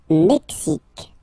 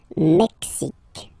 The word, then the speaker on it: Mexique: Le Mexique, le Mexique. Mexique. It's really the X, huh? Le Mexique. And then remember this Q-U-E, it's only K-K.